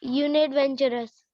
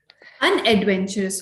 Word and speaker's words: unadventurous: UNADVENTUROUS, यूनि एडवेंचरस। अनएडवेंचरस होता है वो, यूनी एडवेंचरस नहीं होता।